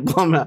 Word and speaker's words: Blumhouse: Because it's spelled BLUM, and that looks like Blum. It rhymes with cum. And plum. You wouldn't call it Coomhouse. We would call it Coomhouse, but this is definitely Blumhouse.